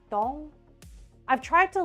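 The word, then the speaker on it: Dzong: right but it's like it's spelled DZ o n g like dong I've tried to like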